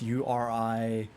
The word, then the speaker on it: Urianger: Urianger. It's a French name. It's Uringer.